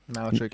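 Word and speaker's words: Malarchuk: Is that how you pronounce the name? Malchuk? Malchuk, yeah.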